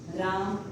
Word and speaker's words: रामः: जैसे मैंने लिखा राम, 2 ये लगाए, विसर्ग लगाए, अब इसका उच्चारण हम क्या करेंगे? ह करेंगे, ये क्या होगा?